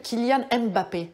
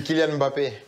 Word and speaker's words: Kylian Mbappé: J'insiste sur la prononciation. Okay. Il y a énormément de Français qui vous appellent Kylian Mbappé. Est-ce que c'est comme ça qu'il faut prononcer? Non. Ah, non. Mais voilà. Bon, j'aurais beaucoup de travail si je devais corriger tout le monde. C'est Kylian Mbappé.